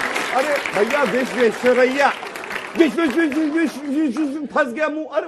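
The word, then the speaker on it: Visvesvaraya: या ना विश्वेश्वर, अरे भैया विश्वेश्वरैया, विश्व फंस गया मुंह।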